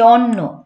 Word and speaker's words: অন্ন: কভু, আমার ক্ষুধার অন্ন, এই যে অন্ন, অন্য না কিন্তু, এই অন্ন আর অন্যর মধ্যে উচ্চারণে একটু তফাৎ আছে।